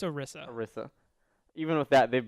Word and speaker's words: Orisa: And even with the update, even with the announcement of the new hero, Osira, or Orisa, Orisa. however you pronounce it, It's Orisa.